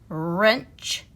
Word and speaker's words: wrench: front of it wrinkles so all the w r words that only have the r or sound and we don't hear the w is right wrench wrists rapping wrong and